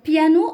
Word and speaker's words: piano: Alors piano, même s'il y a un N, ici on ne prononce pas le ON. Donc piano, et il n'y a pas la prononciation du son ON.